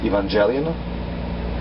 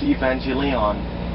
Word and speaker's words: Evangelion: don't know I mean the way I pronounce is Evangelion some people told me it's evangelon yeah because they see the lion in the end you know they see the